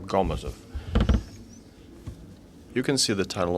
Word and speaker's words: Gomozov: The next report will be made by Gomozov from NITP. Dear colleagues, I'm happy to welcome all of you. I'd like to correct the moderator. The stress is on the first syllable in my last name, Gomozov.